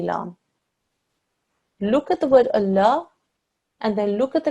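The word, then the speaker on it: الله: the word Allah okay here carries a Fattah that means that this large is pronounced in a thick and heavy way so when we read it we say Allah well done in this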